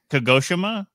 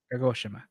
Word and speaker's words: Kagoshima: haiman Shrine and okuchi kagoshima K Kima kagoshima yeah Kima yeah there's there's like don't try to stress any any syllables okay the syllables are not what you think there are two Carpenters